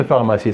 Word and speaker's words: pharmacie: important on la prononce on écrit P et h et on la prononce pharmacie c'est bon faites une